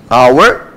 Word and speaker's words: hour: Aqui é o outro exemplo, assim como hour, tá? Aonde o H é mudo.